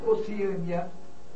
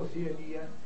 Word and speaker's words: Oceânia: portuguesa que apresentam dupla prosódia, ou seja, dupla pronúncia. Tá claro? Então vamos aproveitar e listar alguns aqui. Nós temos Oceânia ou Oceania, Balcãs ou Balcãs, homília ou homilia, hieróglifo ou